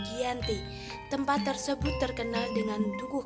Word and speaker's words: Giyanti: Dalam pelafalan Belanda, ia tersebut sebagai GHIYANTI. Secara tertulis, ia terbaca sebagai Giyanti.